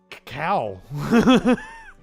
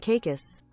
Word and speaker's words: Caicos: Turks and cow. That's not it. That is not it. That's me mocking. Turks and Caicos. Turks and Caicos. The Turks and Caicos Islands.